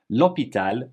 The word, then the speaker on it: l'hôpital: H isn't there, and we're eliding the le la into L apostrophe, just like we would in front of any vowel. L'initiative, l'océan, l'alphabet. L'hôpital, l'hôtel, l'histoire, l'herbe, l'habitude, l'heure, l'horloge, all have an H muet.